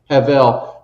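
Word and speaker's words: הבל: Heav. Yes. Havel, which means a wisp of vapor.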